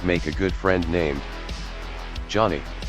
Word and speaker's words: Johnny: a good friend named Johnny pronounced yane can barely communicate with